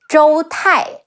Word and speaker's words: Zhou Tai: Next, we have Zhou Tai, Zhi Ou Zhou Te Ai Tai, Zhou Tai, and his two